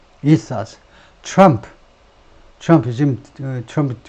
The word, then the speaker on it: ethos: 발음이 ethos.